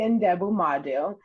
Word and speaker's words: Ndebumadu: You did a great job introducing me, and you pronounced my last name correctly. My name is Ndebumadu, and like you said, I am an avid